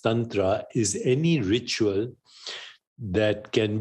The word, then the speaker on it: tantra: sexual and spiritual rituals but Tantra properly pronounced Tantra is any ritual that